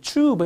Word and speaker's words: tube: 튜는 추 발음하기도 해요. 튜브 해도 되고 튜브 하셔도 상관없습니다.